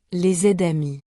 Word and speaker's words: les amis: Par exemple, on ne dit pas les amis, avec un silence entre les 2 mots. On dit les aides-amis. Le S se prononce avec le mot suivant.